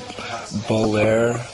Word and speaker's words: Baudelaire: You know, I mean, there are a few that I like Burroughs and Bukowski, and how do you pronounce his name? Baudelaire.